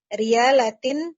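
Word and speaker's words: ريالات: Tamanuhu sab'atu riyalatin. Riyalatin. Nanya panjang.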